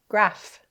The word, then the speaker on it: graph: G say it fast graph say it fast graph yeah a graph of math problems maybe right good job learning the diaph p H that says f